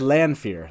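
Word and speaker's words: Lanfear: on fear now no again it's it's lan it is land fear that is correct um that is how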